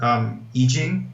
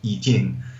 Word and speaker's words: I Ching: Again, as you said, I Ching, otherwise pronounced I Ching, the Mandarin pronunciation of that is I Ching.